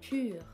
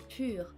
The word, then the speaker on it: pur: But if you want an example, for instance, in French we say pur, pur for pure, pure. So really, here the vowel sound is totally different, but it's the same vowel.